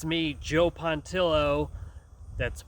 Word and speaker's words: Pontillo: It's me, Joe Pontillo. That's Pontillo. Oh, quit being Really gotta work pretentious, on that Joe.